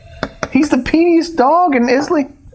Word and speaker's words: Islay: He's the peatiest dog in Islay. Isla. I say it like an American, which is wrong.